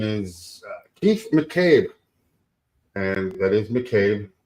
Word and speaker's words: McCabe: I guess it could be Makabe, too. I mean, M. Yeah, I heard it pronounced all ways. The only way it can be is McCabe.